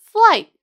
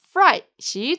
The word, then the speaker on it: flight: flight 항공편 항공기를 뜻하는 flight 발음 주의하세요 L 발음을 잘 살리셔서 flight이라고 발음하세요 l을로 잘못 발음하시면 전혀 의미가 다른 선 뜻하게 놀람이란 의미에 fright 돼버려요 아셨죠 flight fright 확실히 구분 지셔야 합니다 I ended up missing